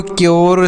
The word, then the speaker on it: CURE: यू के साथ अगर RE का प्रयोग हो तो यू का उच्चारण यो के रूप में होता है। प्योर, क्योर, श्योर, ड्योर, म्योर, ऐसे पढ़ सकते हैं।